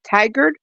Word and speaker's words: Tigard: The correct pronunciation of the city you were trying to pronounce it earlier, Darcy, is Tigard.